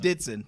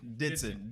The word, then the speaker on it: Dithson: Dithson. Dithson. Dithson. So the H is pretty silent. The H is silent.